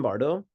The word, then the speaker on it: Bardo: you firstly the term Bardo in case there's anyone kind of unfamiliar with it it's two syllables you know bar and do and bar means kind